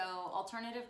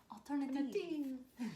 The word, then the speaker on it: Alternativ: Alternativ. So there's no E on the end of alternative. It's an alternative spelling. Hey, like Spanish, the E is silent.